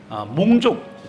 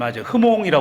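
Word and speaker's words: Hmong: 가지고 그 지역에 있는 몽족 그 여기 아까 그 베트남 선교사님 흐몽이라고 그랬는데 여기서는 몽이라 그럽니다. 그래서 이제 HM잖아요. 근데 H가 흐몽인데 여기서는 발음을 안 해요. 그래서 몽입니다. 몽.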